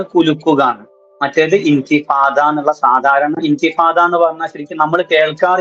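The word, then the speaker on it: انتفاضة: നമ്മൾ കേൾക്കാറ് ഇൻഫാദ എന്നാണ് അത് കാര്യം ഇംഗ്ലീഷിൽ നമ്മൾക്ക് ളാദ് എന്ന അക്ഷരം ഇല്ലാത്തതുകൊണ്ട് അവര് ഇന്തിഫാദ എന്ന് എഴുതി വെക്കും ളോദ് എന്നുള്ള പദം നമ്മൾ ട്രാൻസ്ലേറ്ററേറ്റ് ചെയ്യുകയാണെങ്കിൽ ഡി എച്ച് എന്ന് കൂട്ടിയിട്ട് ട്രാൻസ്ലേറ്ററേറ്റ് ചെയ്യാൻ പറ്റും ട്രാൻസ്ലേറ്ററേറ്റ് അപ്പൊ ഇന്തിഫാദ എന്നുള്ള ഉച്ചാരണം കിട്ടുകയും ചെയ്യും നമ്മുടെ നാട്ടിൽ ശീലം വന്നത് ഇൻഫാദ എന്നാണ് നഫദ എന്ന വാക്ക് ശരിക്ക്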